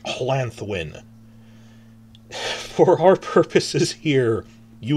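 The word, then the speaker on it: Llanddwyn: how the D's work, you'd think it's Hlandwyn, but now we know it's Hlanthwyn. It's Lanthwyn, but with the Welsh, it's almost like Hlanthwyn.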